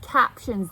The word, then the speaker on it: captions: Cap. Shun. Yeah. Shun. The ti says the shh sound.